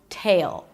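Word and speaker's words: The Handmaid's Tale: Tail. An aspirated T, a long A as in day, and a dark L. Tail sounds like you're adding a Y sound right before the L. Tail. The handmaid's tail.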